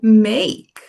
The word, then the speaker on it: make: Então, você não pronuncia a vogal formando uma sílaba, você acaba no som da consoante. A gente viu house. Olha outra palavra, bak. Bake, o verbo make, outra palavra, tape.